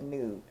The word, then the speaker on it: Nut: That's another twin soul pairing where it was Father Earth, which was Jeb, G-E-B, and then Newt, spelled like nut, but Newt.